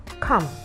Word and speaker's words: come: very simple everyday word come c o m e the letter E in that word is silent you have plumber p